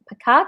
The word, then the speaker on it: Pacat: Pacat, is that how you say her name? Yeah. Okay, Pacat.